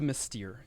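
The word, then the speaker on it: St. Mystere: It's closer to Mystere, yes.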